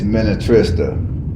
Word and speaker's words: Minnetrista: All right, people, the name of that museum is Minnetrista.